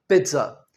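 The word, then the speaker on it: pizza: जैसे आपने सुना होगा हम बोलते हैं पिज्जा, बट एक्चुअल में इसका क्या उच्चारण है? पिज्जा।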